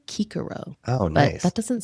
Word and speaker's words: Cicero: My favorite Latin tidbit is that they didn't have a soft C. So we've been calling him Cicero all this time, and it's actually Cicero.